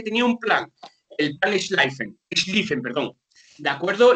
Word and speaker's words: Schlieffen: Alemania tenía un plan, o se dice que tenía un plan, el plan Schlieffen, perdón. ¿De acuerdo? La I y la E juntas en Alemania se pronuncia como una I normal.